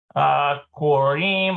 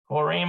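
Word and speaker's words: קוראים: infinitive and singular conjugations, but it is pronounced in the plural conjugations. Korim or korot. Okay, so he's talking about these right here. Korim or korot.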